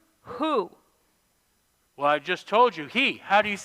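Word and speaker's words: הוא: to the store and how do you say he in hebrew who well i just told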